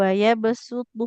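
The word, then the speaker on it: ويبسط: Itu bacanya berarti sin ya Ustazah, Ya, bukan betul. sod. Waya besutu.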